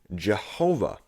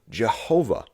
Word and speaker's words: Jehovah: sound familiar at all when we write this word in english the yah is changed to a ja and the w is changed to a v resulting in the word jehovah so let's go over